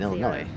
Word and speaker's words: Illinois: The S is silent in Illinois. Not Illinois.